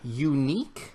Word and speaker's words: Yuneec: this thing called the unique I believe is how it's pronounced it spelled y un e e C it's a very unique spelling of unique if that's how you pronounce it the unique breeze this is a